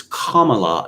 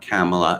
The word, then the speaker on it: Kamala: make the correction but it's kamala not kamela yes um yes i